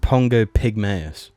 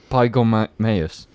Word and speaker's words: Pongo pygmaeus: I think it's pronounced Pongo Pygmaeus. Pygormaeus.